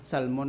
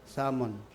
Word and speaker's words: salmon: actually ang word ng salmon ang pronunciation sakto salmon salmon silent l salmon no so du ka